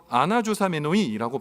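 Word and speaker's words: ἀναζωσάμενοι: 근데 이거를 헬라어 말을 보면 아나조 아나조사메노이라고 발음하는 헬라어 뜻인데이 뜻이 뭐냐 여행 등의 출발을 위해 의복을 허리띠로 조이고 단단한 태세를 취하다.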